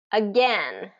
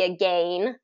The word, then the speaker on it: again: get its long pronunciation so it really should be a gain but uh native speakers the way we've morphed language and changed things now the standard has become again let's do it again